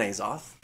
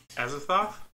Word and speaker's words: Azathoth: I'm blaming Cthulhu and Azoth. Azathoth?